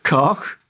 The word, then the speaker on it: Koch: I am giving you Koch. Her surname... No, I told you weren't allowed to do that. Her name is Olga Koch. Her surname is spelled Koch, and it's as in Loch Ness.